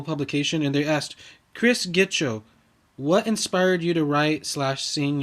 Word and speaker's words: Gitcho: Chris Gitcho. Is that how you pronounce it? Chris Gitcho? That is how you pronounce it, Gitcho.